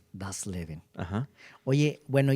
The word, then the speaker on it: das Leben: cómo se pronuncia en alemán? Das Leben. Das Leben.